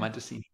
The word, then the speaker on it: Madosini: I'm probably saying her name wrong. No, you're saying it right. Okay. Madosini.